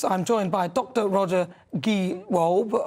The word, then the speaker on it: Gewolb: Roger Gewolb. Have I said it right? It's Gewolb, I've got it right.